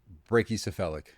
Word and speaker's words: brachycephalic: There's no O in there. All right. Brachycephalic. Okay. People just word salad it.